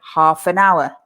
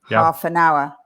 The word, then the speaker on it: half an hour: Of course, the spellings are horrible because everybody wants to say the L in half.